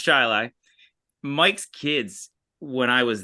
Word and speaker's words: Chili: In Chile, yes, the town of Chili, pronounced Chili.